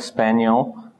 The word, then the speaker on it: spaniel: Now, there's two ways to say it, so depending on how you say it, it might be in any category. So here you can see they kind of, how should I say, up to the N is the same. Span, span. Here it's a little bit different. E-L or yell. So this can be two syllables, span, E-L, or it can be spaniel.